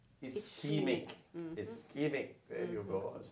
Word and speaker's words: ischemic: And did I get a pronunciation right? Schematic? Ischemic.